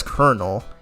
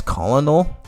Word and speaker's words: colonel: His name is Colonel. And then like when I when I first heard the word when I first heard the word I pronounced it as colonal but then is he still the come on